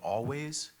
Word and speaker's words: Alvvays: So there's a band called Always, and I think they're from Canada, but I'm not sure. And it's spelled Alvvays.